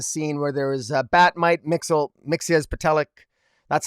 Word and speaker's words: Mxyzptlk: I mean, in fact, probably, I did get a kick out of the scene where there was Batmite, Mxyzptlk, that's how I pronounce it, and Wondermite, where Wondermite shows up,